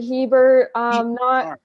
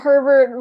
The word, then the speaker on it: Hebert: Hey, yeah, I'm Hebert. Not Herbert.